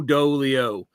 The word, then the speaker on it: Dolio: very much so they made sure that my name rhymed all the way through do Leo it's you know it's